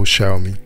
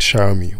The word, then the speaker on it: Xiaomi: the then vp hyugabara think of the two words show me then pronounce the first word as if it was shower i hope you got